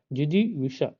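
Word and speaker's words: जिजीविषा: आए हैं जिजी विष जिजी विष जिजी विष ऐसे उच्चारण करिए जेष्ठ टा टा नहीं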